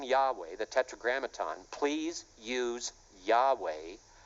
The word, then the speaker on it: Yahweh: And they state very plainly in there, number one, the name is pronounced Yahweh.